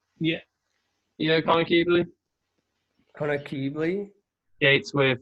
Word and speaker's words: Keebley: Would you pronounce that Keebley? Yeah. Yeah, Connor Keebley.